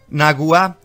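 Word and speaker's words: נגוע: que literalmente significa llagado naguá que es acento en la ua comparte la misma raíz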